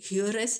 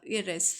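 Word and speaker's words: heiress: यहाँ पे हियरस नहीं होगा, इरेस, ठीक है।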